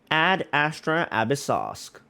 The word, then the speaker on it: Ad Astra Abyssosque: Oh, that's how it's pronounced. Ad Astra Abyssosque.